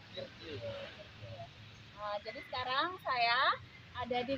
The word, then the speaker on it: Kirtya: Saya salah bacanya ya, Kirtia. Iya, Kirtia.